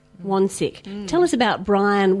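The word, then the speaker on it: Wansink: And his name was Brian, let me say his name right, Wonsick. Wonsick.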